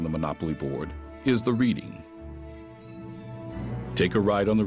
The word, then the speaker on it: Reading: The Philadelphia and Reading Railroad, later the Reading Company, is actually supposed to be pronounced Reading.